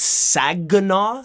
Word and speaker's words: Saginaw: the city in Michigan oh yeah I can't pronounce words so it's tech it's Saginaw Saginaw nah I don't think sad you know